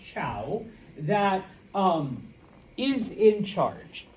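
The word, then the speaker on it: Zhou: All right, it is pronounced ciao that um is in charge.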